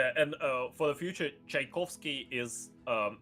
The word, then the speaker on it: Tchaikovsky: uh for the future Tchaikovsky is um his surname is basically made of the word chaika which means seagull so it's pronounced like chai kovsky yeah yeah basically uh